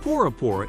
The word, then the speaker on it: Bora Bora: the south pacific in french polynesia boroborite is pronounced porapora in tuition and means firstborn arama lagoon scuba